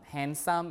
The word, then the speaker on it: handsome: and hustle right uh also the D in um handsome and Landscape the D is also lost okay um the L